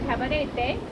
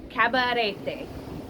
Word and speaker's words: Cabarete: But it is cabaret, not cabaret. Not cabaret, but cabaret. You got to just roll your R a little bit.